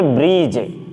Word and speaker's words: bridge: तो हम देख रहे हैं कि ये ब्रिज, यानी जी से पहले डी आ जाए, जी से पहले डी क्या हो जाएगा, साइलेंट हो जाएगा।